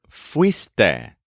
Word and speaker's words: fuiste: If you can remember the stressed syllable weast, it'll help you remember fuiste, which is the strange conjugation for the informal second person, you went.